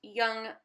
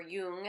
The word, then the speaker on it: Jung: Freud did um but because young or Yung as it's pronounced is more popular uh